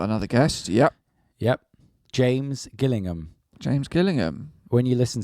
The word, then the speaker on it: Gillingham: was killing him or Gillingham yeah like the football club I'm still at 100 now you've said that it's it's killing him he said Gillian he said he did it's hard G yeah but now I've